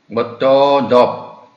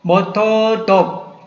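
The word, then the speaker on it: ម៉ូតូឌុប: 이 발음이 우리가 쉽게 오토바이라고도 할 수 있지만은 실제적으로 캄보디아에서는 모토돕, 모토돕, 모토돕, 모토돕.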